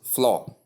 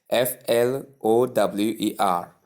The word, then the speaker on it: flour: So most people call the word floor. They pronounce it as they pronounce the word f l o o r. But the right pronunciation is the same way you pronounce the word f l o w e r which is flower.